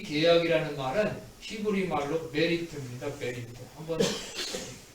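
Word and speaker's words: בְּרִית: 메리트. 한번 발음해 볼까요? 다 같이 따라하시기 바랍니다. 베리트.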